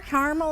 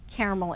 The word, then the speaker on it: caramel: and by the way they're both correct they are caramel is also a correct American pronunciation however caramel is preferred elevate fix the shirt